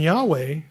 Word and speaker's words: Yahweh: refer to that person pronunciation is yah and Yahweh you know what it